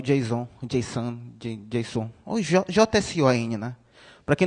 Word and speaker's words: JSON: Aqui fala, ó, a pronúncia se diz JSON.